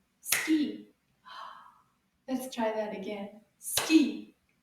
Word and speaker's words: ski: The S at the end, my friends, is silent. Shh, it doesn't say a sound. Ski. Can you repeat after me?